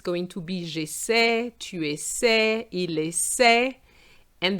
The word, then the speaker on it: j'essaie: However, when you want the je form, the Y disappears because we don't need that sound. So we're just going to have j'essaie. J'essaie just with an E, which is silent.